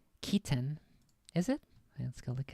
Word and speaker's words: chitin: So chitin is pronounced Keaton.